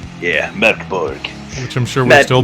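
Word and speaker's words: Mörk Borg: But then if you see there, it says Mork Borg is Swedish for Dark Fort, and it's pronounced Mork Borg. Yeah, Mork Borg.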